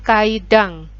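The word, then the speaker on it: 階段: tangga itu bahasa Jepangnya kaidang Hai tulisannya kaidan Tapi bacanya kaidah-kaidahnya kaidang Ya jadi makan di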